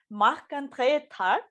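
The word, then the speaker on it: Marc-André: and i'm going to try and pronounce his name the right way which is in french so because he is a french canadian so welcome mark andrea yeah i um i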